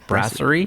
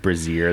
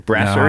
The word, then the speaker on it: Brasserie: Brasserie? Brasserie? I think. Not Brazier, that's funny. I don't think it's Brazier. I don't think it's Brazier either. No, Brasserie I don't think so either, but...